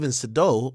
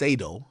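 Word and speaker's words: Sadow: strategic hire so step sedo well I call him SED but it's sedo okay by the way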